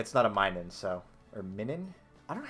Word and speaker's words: Minun: my name yeah okay so it is Plusle and minun okay so I've just been saying it wrong for the capaz [